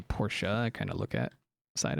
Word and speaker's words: Porsche: tedious Pro process but a Porsche said like porch I have never heard of Porsche called porch I've heard people say Porsche and I say por but have never heard